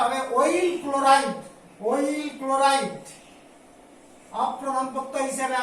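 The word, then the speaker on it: oyl chloride: আর এর ক্ষেত্রে উচ্চারণটা হবে অয়েল ক্লোরাইড, অয়েল ক্লোরাইড, অপ্রধান প্রত্যয় হিসেবে আসবে অয়েল ক্লোরাইড, এখানে ধরবে না নিচে, অয়েল ক্লোরাইড, CHLO, ক্লোরাইড, অয়েল ক্লোরাইড।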